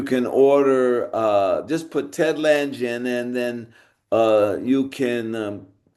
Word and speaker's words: Lange: So wait, your last name is Langen? Lange. You know what phalanges are? Yes, I do. Fingers. Fingers. That's bones in the fingers. Phalanges. So the Lange is helps to say my name.